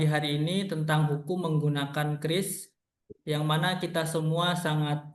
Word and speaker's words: QRIS: Jadi menurut BI membacanya Kris ya bukan quris ya. Kalau kuris itu ya salah gitu. Jadi sudah diindonesiakan membacanya Kris.